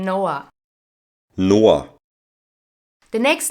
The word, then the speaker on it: Noah: now check how a German native speaker would pronounce the name Noah Noah the next name is Leon Leon is the